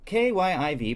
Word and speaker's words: Kyiv: K-Y-I-V, pronounced Kyiv, is the transliteration from Ukrainian. Kiev, pronounced Kiev, K-I-E-V, is the Russian transliteration. As one small way to stand with the Ukrainian people, try to stick to the first spelling and pronunciation.